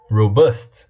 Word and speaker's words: robust: Robust. Ah, o acento é no bust.